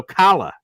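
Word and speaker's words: challah: uh pronouncing this improperly Chala bread Shala bread what is this have you heard of this kind of bread oh kala oh kalala kalala like you're choking it's Jewish kalala bread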